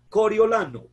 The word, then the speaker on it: Coriolano: Coriolano, un nombre que se le enredaba a la gente, ¿cierto? La verdadera pronunciación y la verdadera ortografía de su nombre es como la ven escrita, I-O.